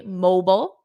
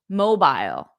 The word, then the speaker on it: mobile: I said this because in American English we say mobile mobile mobile but in British English mobile mobile so if you hear someone say mobile and someone else say mobile just know that both pronunciations are correct one is American Mobile and the other one is British mobile the mobile is ringing